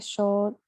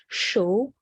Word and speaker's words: chaud: Chaud, we don't pronounce the D.